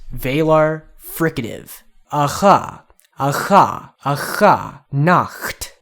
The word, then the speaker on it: Nacht: But if you can't, a k sound there is probably a good substitute. You can't pronounce that. But what is not a good substitute is the way they wrote it out in katakana. In katakana, Nacht's name is written as Nashasu.